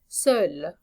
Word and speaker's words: seul: J'habite seul. Okay, the masculine and feminine version of this are the same pronunciation, just different spelling.